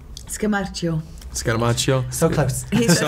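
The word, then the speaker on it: Scamarcio: You know, Ricardo Scamaracci. Scamaccio.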